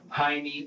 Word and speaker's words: Jaime: and Jaime here is pronounced with an H sound like it would be pronounced in Spanish but Michael and the detective pronounce Jaime with the J sound